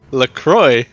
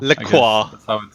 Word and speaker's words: LaCroix: you drinking some yes how do you say it like Croix Lacroix yeah well that's how they say in New York so Lacroix Lacroix in French yeah yes